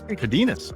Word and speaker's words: Cardenas: Am I pronouncing it right? Cardenas? Cardenas.